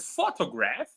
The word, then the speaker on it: photograph: So the word photograph, it's the first syllable, but the word photography, it's the second syllable.